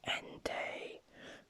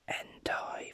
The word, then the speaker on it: Entei: entei is a pr is pronounced end day but i bring out the entire for no reason also